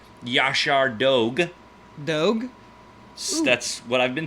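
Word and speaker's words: Yaşar Doğu: a second here we're gonna talk about the yasar Dogu or as I've been told it should be pronounced Josh our dog dog that's what I've been told well maybe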